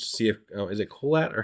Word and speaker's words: Kohelet: You know, I'll do my Google searching just to see if is it Colette or how do you how do you say Kaholit? Kaholit.